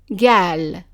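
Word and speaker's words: قال: Now, in the regions where the qaf is pronounced as a g sound, then that word would be gal, gal.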